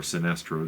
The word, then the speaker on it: Sinestro: That's Sinestro, the original uh Sinest or Sinestro, depending upon your pronunciation, from the old Super Friends cartoon, Lex Luthor, Green Lantern with the bat, ring bat.